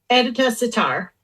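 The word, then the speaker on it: Edyta Sitar: is how do I say her name Stephanie edita sitar editor sitar yeah you've probably heard of her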